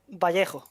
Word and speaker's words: Vallejo: Or Vallejo, is that how's that pronunciation for a start? Yeah, it's Vallejo.